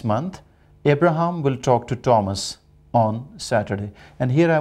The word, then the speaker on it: Thomas: learners the word t-h-o-m-s people usually pronounce thomas it should be thomas although it is th but it sounds like thomas and the nickname for